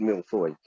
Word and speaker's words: mille-feuille: in england but in in french it's called milfoy but today we're going to be making a